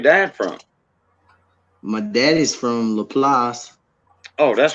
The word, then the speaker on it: LaPlace: Some people say Laplace. I call, since I'm from around there, I always call it Laplace. That's how it's pronounced, Laplace. The place in French.